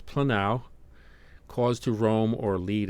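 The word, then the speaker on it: πλανάω: So it's planao, cause to roam or lead astray.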